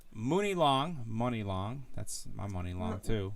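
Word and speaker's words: Muni Long: Yeah, because it is pronounced Money Long.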